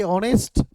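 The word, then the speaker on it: honest: फिर वही बात ऑनेस्ट पे आई हमारा ऑनेस्ट, फिर वही कि एच यहाँ पे साइलेंट है और इसका उच्चारण वॉवेल की तरह हो रहा है।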